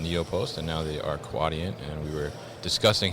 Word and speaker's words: Quadient: just rebranded from neopost and now they are quadient and we were discussing how to pronounce it correctly so it's quadient right yes